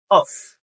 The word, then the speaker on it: of: Donc prononcer ça oui en anglais fonc Fonc V. OK. C'est qui différent de off. OK. Off et puis of donc moi dit c'est days of the week.